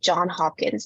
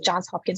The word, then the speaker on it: Johns Hopkins: funny so for example Johns Hopkins University a lot of people say John Hopkins and then like Johns Hopkins will actually just reject you because you're missing an